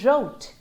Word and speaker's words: wrote: these words okay and the letter w is always silent when it's at the start of the word and in front of the letter r like in right wrote